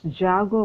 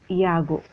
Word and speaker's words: Iago: Here J is given, so we have to pronounce it as Jago only, but அவங்களுடைய original ப்ரொனன்சியேஷனில் J is the sound of this letter is Ya only, the phonetic sound. So Salpen Iago.